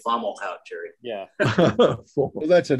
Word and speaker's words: Fomalhaut: form homolo formal oh it's a french word you fomolo i always said fomalhaut jerry yeah well that's